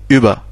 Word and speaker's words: über: avec les deux points, ça se prononce U. Avec les deux points. U comme le U français normal, comme über.